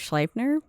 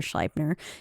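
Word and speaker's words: Sleipnir: eight-legged horse named um I'm gonna go with schleipener because it's EI and in German you would pronounce the I which he wrote with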